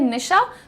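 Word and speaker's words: niche: Pronunciation यहाँ पर लिख भी दिया है निश, जैसे आप लोग घर में नाम लेते हैं निशा, तो उसमें से अ हटा दीजिए, निश बोलिए इसे।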